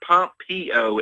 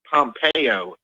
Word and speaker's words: Pompeo: said it's um it's it's not Pompeo it's Mike Pompeo okay Mike Pompeo keep